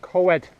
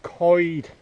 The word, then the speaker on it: coed: of people pronounce it co-ed as in you'll hear a lot of people as in better so coed but it's not pronounced co-ed it's pronounced coid as if you're saying c-o-y-d coid but you'll hear a